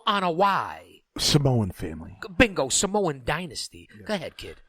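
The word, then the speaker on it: Anoa'i: joe in hawaii and well everybody pronounces that wrong including bully ray it's i don't know why that's the correct pronouncement look at that joe ana y samoan family bingo samoan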